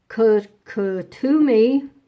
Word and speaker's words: Kuthumi: Kuthumi, it's pronounced, was a Sikh spiritual leader named Sirdar Thakur Singh Sadhwali, who lived in India during the 1800s.